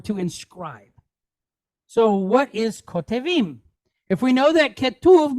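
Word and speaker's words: כותבים: Kotevim. Kotevim. All right? Kotevim. So the word ketuv means to write or to inscribe. So what is kotevim?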